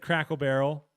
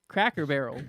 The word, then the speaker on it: Cracker Barrel: I said Crackle Barrel. Crackle Barrel? You don't even know how to pronounce it. Cracker Barrel.